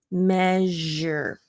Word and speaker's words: measure: because you know that sure is an sh sound but when it's in this word it's a j sound so it does change even though it looks similar to what you think it might be measure and this is where